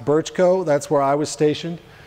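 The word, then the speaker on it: Brčko: If you see in the top BRCKO, that's pronounced Birchko, that's where I was stationed.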